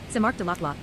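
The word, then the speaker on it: Saint-Marc-du-Lac-Long: Mark Daklong St. Mark Daklong French pronunciation sar daklaw is a parish municipality in the Canadian province of Quebec located in the water regional county municipality.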